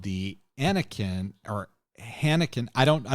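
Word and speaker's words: Aenikkaeng: it it's it's a-e-n-i-k-k-a-e-n-g-s so I think it's pronounced roughly the same way as the Spanish word Heineken is but it's a Korean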